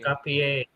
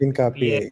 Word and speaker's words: Hincapié: I don't know how to pronounce it. You guys have the head. Hincapié. Hincapié, Hincapié, Hincapié.